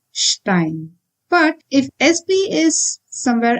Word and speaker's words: Stein: Again, this is not Stein, it is Stein.